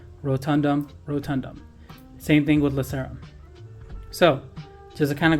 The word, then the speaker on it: lacerum: Now, I like to call this one foramen lacerum because that's exactly how it's spelled. Lace, like shoelaces, and then rum.